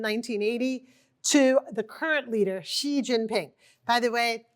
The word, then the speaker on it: Xi Jinping: By the way, media always gets the pronunciation of his name wrong. Oftentimes they say it like a Z, like G or J. It's it's just like sh like the female pronoun.